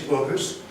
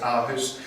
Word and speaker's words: Aarhus: I believe the correct pronunciation is Aarhus. Just about everyone refers to it as Aarhus, but I tend to say that I'm going to Paris, not Paris.